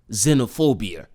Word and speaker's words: xenophobia: Now, the word that you see in front of you, this word is pronounced xenophobia. or xenophobia. Both pronunciations had nothing to do with X at all, yet they push it.